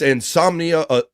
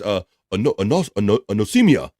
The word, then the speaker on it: anosmia: It's insomnia. Wait a minute. I'm going to pronounce that right. It's anosmia. Anosmia Awareness Day.